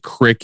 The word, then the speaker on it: creek: thing um i think crick is just a like a colloquial term i think creek is the proper pronunciation but crick is a